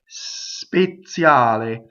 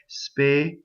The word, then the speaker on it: speziale: When you speak, you're going to have a Z with a TZ, right? And you can say it short. Speziale. And you see how I stop? When you sing, there are words like this where you have to make almost a semi-vowel, right? Speziale. Very soft.